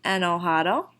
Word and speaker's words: enojado: Yo estoy enojado. Or enojada. Imagine that our jota there is a H instead of a J, and that helps the pronunciation a little bit.